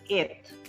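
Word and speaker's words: êtes: Second word is eth, ETH. S is silent, E is silent. Vu eth.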